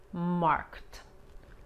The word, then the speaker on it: marked: Aquí la ED se pronuncia como una T. Marked.